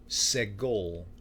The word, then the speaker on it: segol: Some of them are double syllable vowels, but this is an S sound, like segol. And if you take off the S and you take off the O, what do you have left? Egg, seg-ol, egg-ol, segol.